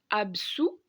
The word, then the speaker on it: absous: Le premier radical se prononce absou, le deuxième radical se prononce absolve.